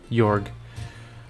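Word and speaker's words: Georg: yorg where are you I know it's gayor but I refuse cuz his name should be pronounced yorg well played well played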